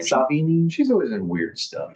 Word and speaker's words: Sevigny: Chloe Savini, I think. Sevigny? How do you say her name? Savini.